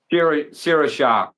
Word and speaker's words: sriracha: Sierra Shah. They pronounce that Sierra Yeah. Shah. Yeah.